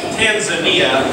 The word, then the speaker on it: Tanzania: happen all right so best tanan it's actually pronounced Tanzania but uh welcome to Camp kjaro thanks and